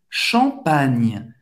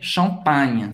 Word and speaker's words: champagne: I longo, bouteille de champagne. Não é champanhe, champagne. Lembrando, você não vai nasalizar a vogal que vem antes. É champagne. Você vai pronunciar o A mesmo, ok?